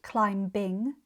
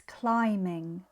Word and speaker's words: climbing: Climbing is spelled with a B at the end, but we don't pronounce it. It's not climb-bing, it's climbing.